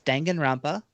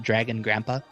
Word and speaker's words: Danganronpa: Do you want me to try to pronounce it? Yeah. Danganronpa. That's not bad. That's not bad. It's Danganronpa.